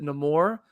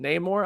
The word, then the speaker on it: Namor: want to pronounce it he pronounces it no more the characters in the movie around him from wakanda pronounced that Namor I have my whole life pronounced it Neymar so I have continued to do that but I think that's